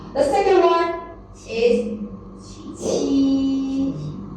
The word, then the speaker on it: 七: The second one is 七，七。 The difference between 鸡 and 七 is about the a. Okay, when you pronounce the 七, you will find the strong a outflow.